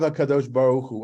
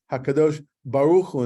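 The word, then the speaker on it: הקדוש ברוך הוא: You're supposed to pronounce it Hakadosh Baruch Hu, not Hakadosh Baruch Hu, right? That would be the Ashkenazic pronunciation, but it is the Holy One, blessed be him.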